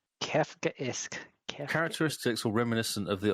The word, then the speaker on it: Kafkaesque: Kafkaesque. Oh, Kafkaesque is how you pronounce it. Kafkaesque.